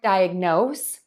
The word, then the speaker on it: diagnose: at the end so for word number one diagnose we're gonna end with noss which is saying the word no and then add an S diagnose diagnose diagnose now